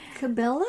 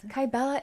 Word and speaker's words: Kybella: here and I can push it all right Sybilla am i pronouncing that correctly what is that kybella is it's a it's actually an injection the